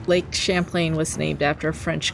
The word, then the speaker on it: Champlain: Champlain. How do you pronounce that? Is it like champion or like champagne? Champagne.